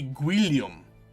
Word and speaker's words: Guillaume: pronounce every letter so this would be guillum because William was too hard for them to say they just put a